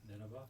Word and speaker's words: Nineveh: Nineveh.